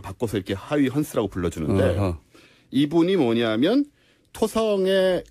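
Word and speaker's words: Huygens: 이 영어식 오래된 발음이었고, 사람인데. 네, 얘도 네. 옛날 사람인데 이 사람도 이제 요즘은 네덜란드 발음으로 바꿔서 이렇게 하이헌스라고 불러주는데 어허.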